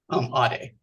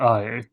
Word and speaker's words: Ade: Ade. I? Yeah. ADE is how it's spelled. Oh, ADE. Ade. Not IA.